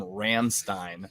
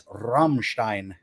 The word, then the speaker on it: Rammstein: I've called them Ramstein. They're like one of the most mispronounced bands ever. Like, I've heard Ramstein. I believe that the proper's Rammstein, but okay.